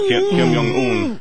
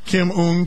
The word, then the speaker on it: Kim Jong-un: Yeah, Kim Jong-un. Kim Jong-un to be provocative.